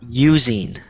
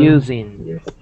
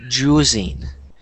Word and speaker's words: using: after me using using using good good good and the reason that I wanted you guys to repeat that word is because um marelen it sounded like you said juing which is that's just